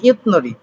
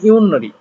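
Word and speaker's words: 윷놀이: তাহলে প্রণাম করার পরে ইউনরি রুল, এখন এখানে উচ্চারণ হয় ইউতনরি, ইউতনরি উচ্চারণ হওয়ার কথা, এখন আপনি উচ্চারণ করবেন ইউনরি।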